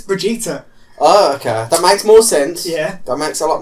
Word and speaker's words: Brigitte: not- No, legit is that how it's spelt, and that's apparently, if you pronounce it in Sweden, it's Brigitte.